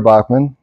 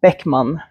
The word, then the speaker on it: Bäckman: Swedish than how do you say it in Swedish oh because we have a I have a a with two dots on it so it's Beckman okay but for Americans it's